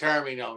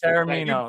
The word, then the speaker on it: Taormino: Mark Taormino. Do I pronounce that last name correctly? Yes, that's correct. Taormino, yes. Taormino. Better pronounce it correctly, Mr.